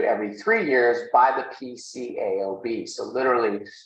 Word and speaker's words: PCAOB: three years by the pcaob so literally sometimes people will call it peekaboo I don't see how that pronounces peekaboo but anyway some people call it that and um that's